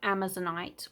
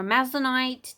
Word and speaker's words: Amazonite: That is what you want to see on Amazonite or Amazonite, depending on how your pronunciation you would like to pronounce it.